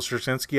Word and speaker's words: Straczynski: Michael Straczynski, I think is how you say his name.